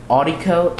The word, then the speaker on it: Audiko: And then, in your internet browser, you want to go to, I forgot exactly how to say it, it's like Audico, A-U-D-I-K-O, .net.